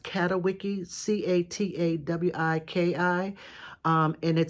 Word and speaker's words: Catawiki: me to this site called, I think it's pronounced Catawiki, C-A-T-A-W-I-K-I.